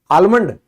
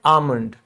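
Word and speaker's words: almond: जैसे बादाम को इंग्लिश में क्या कहते हैं, आलमंड नहीं, ये एल साइलेंट है, इसको हम कहते हैं आमंड।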